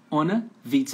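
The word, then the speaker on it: ohne Witz: Onnewitz, pronúncia, ó.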